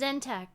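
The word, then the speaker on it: Tzeentch: Or what about the often overlooked fact that Zech inspires people to read books and seek knowledge to better themselves? He said his name wrong. His name is Zentech.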